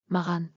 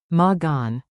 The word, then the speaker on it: маған: Clap the rhythm with me for a clean accent. Beat it out. Маған 2 beats. керек. 2 beats. Mаған. Krek. Whisper to loud drill. Mаған.